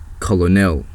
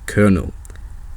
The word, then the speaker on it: colonel: here now knowing what you do you'd probably pronounce that word like color Nell and you'll be completely wrong because for some reason that word is pronounced colonel what I told that you have letters that